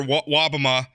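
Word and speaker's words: Wobbema: about you and another Republican state senator, Senator Wobama. Am I pronouncing that?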